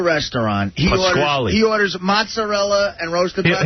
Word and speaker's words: mozzarella: Well, how do you say mozzarella? Mozzarella. Mozzarella. M is applesauce. It's mozzarella. Mozzarella.